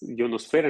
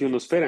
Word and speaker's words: ionosfera: dentro de la termósfera O bueno es ionosfera en este caso a veces yo batallo un poquito con la pronunciación pero es ionosfera Entonces es una región